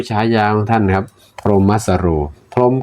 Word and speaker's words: พรหมสโร: ส เสือ นะ ฮ ร เรือ นะ ครับ พรหมสโร นะ ครับ ตัว ไอ้ พราะ นี่ เรา อาจ